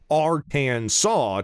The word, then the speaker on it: Arkansas: are well mannered and hold the proper pronunciation of arcane saw to heart with six